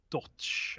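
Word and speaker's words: Dotsch: yeah really good subscriber Thank You Ryan Jason dodged at an arrow you pronounce his surname do t SCH dodge watch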